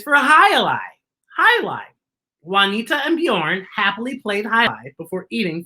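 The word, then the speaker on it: Björn: has the what sound bjorn is spelled b j and it has a b y bjorn b y sound and highlights h a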